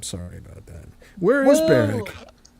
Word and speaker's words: Berwick: I have to pronounce the W. It's Berwick, right? It is Berwick.